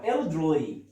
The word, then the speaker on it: elderly: ال ورا الار ما تبينهاش قوي. elderly رخمه. ليه؟ عشان الار دايما لما يجي مع ال بتبقى رخمه في النطق. هقسمها ازاي؟ elderly، والواي في الاخر بتعمل لونج تبقى elderly. تمام.